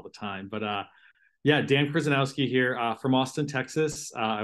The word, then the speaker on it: Kryzanowski: I can't pronounce that. Kryzanowski, and because it's basketball season, you can all call me Dan.